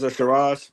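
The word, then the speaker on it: Hamzah Sheeraz: I think that's how you pronounce Hamza Shiraz. Shiraz.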